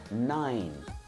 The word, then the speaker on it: nine: O número 9 tem como pronúncia nine. Nine. Notem que o E ele é completamente mudo.